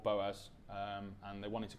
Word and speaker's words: Boaz: Bose for number one how do you pronounce it Boaz it is Boaz lovely and where is